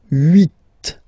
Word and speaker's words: huit: Okay, then here final T is pronounced, so huit, huit. Remember in French this H letter here, okay, doesn't exist phonetically, so we don't really pronounce it.